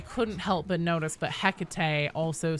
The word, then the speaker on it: Hecate: I couldn't help but notice that Hecate, they pronounce it the same way as the Greek goddess in the Vox itself.